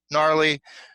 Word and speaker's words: gnarly: with a G, Gnarly, gnarly. Okay, Can be gnarly.